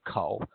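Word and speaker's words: 口: and you emit reflex the pronunciation is co just like when you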